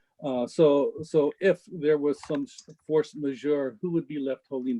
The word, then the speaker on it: force majeure: Okay, I noticed a force majeure.